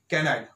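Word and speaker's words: canaille: कैनाइल word क्या पढ़ा जाएगा, कैनाइल हमेशा इसका प्रोनाउंसिएशन दिया जाएगा।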